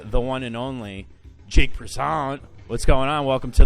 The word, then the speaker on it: Prizant: right I I uh you said it to me once like croissant and I always think